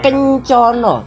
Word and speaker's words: kencana: Kencono, kita ucapkan kata kencono.